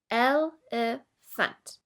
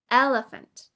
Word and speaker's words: elephant: El-e-phant. The stress is on the first syllable, el. Listen again. Elephant. Elephant.